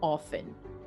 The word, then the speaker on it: often: and so on yes we do not pronounce the t in how often even though you will